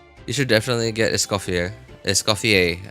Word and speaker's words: Escoffier: Escofier is from what I understand to be pronunciation of her name.